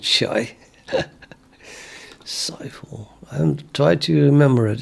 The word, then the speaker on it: Saiful: I always called you Shai. You pronounce it as Saiful.